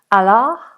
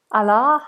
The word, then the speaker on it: Allah: So Farah is saying we pronounce the H in Allah. Allah, Allah, like that.